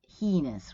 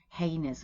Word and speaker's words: heinous: should have waited uh heinous you can also get heinous right heinous would be the the more standard version for this word well you have this